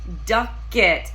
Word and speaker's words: Ducket: It's Ducket, like a duck, like quack, quack, quack.